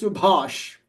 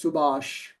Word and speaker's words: Subhash: from the south, they pronounce it as Subhash. Can you hear the difference between Subhash and Subhash? Yes. Okay, so from the Indian subcontinent, right? People from the south, they have a hard time pronouncing that sound, unless you have learned it specifically.